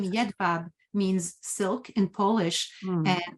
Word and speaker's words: Jedwab: So, and I'm terrible with pronunciation. So is Jedwab related? Jedwab?